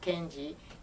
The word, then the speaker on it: Kenji: And your father, would you spell and pronounce his name for us? First name is Kenji, K-E-N-J-I, and same.